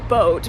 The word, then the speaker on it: boot: me boo boo Dusseldorf or as they pronounce it in German boat because it is an